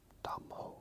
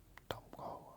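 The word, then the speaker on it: Đông Hồ: This is a classic new wave take on Dongho art. Dongho art. It's spelled D-O-N-G-H-O.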